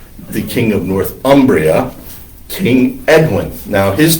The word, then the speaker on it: Edwin: Now his name is, we pronounce it Edwin, E-W-I-N, basically because we can't pronounce any other of the names that he's called. There's also an E-A-D-W-I-N, Aidwan, I guess. And then there is the traditional Frankish Northumbrian name, A-E-D-U-I-N-U-S, Aidwinus.